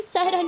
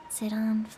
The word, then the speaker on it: Sidon: Sidon... Look, hold on. How to pronounce... I think it's Sidon. I agree with this because it's like Poseidon.